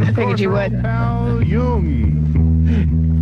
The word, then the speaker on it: Jung: Pal Jung. You're good. Pronounce it Young.